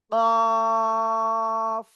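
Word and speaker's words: ق: তালুর সাথে লাগান লাগিয়ে আপনার 4 আলিফ টানে উচ্চারণ করতে হবে কফ সবাই এই অক্ষরটা জোরে জোরে বলেন সবাই সবাই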